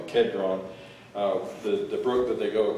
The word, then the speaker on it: Kidron: Probably should pronounce that Kedron. In the Old Testament, it's in the King James, it's spelled Kidron, so it's probably Kedron.